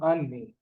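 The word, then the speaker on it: אני: Others might write this A and I. Not I. Ani, which means me, I, myself.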